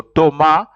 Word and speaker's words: Thomas: Thomas Thomas in Frank Thomas is pronounced you don't pronounce the S and then the H is silent so it's pronounced is